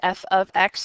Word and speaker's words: f of x: It's pronounced f of x or g of x or k of x or h of x.